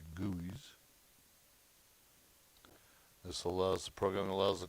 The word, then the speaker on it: GUI: your graphical user interface or the guis pronounced your goys this allows program allows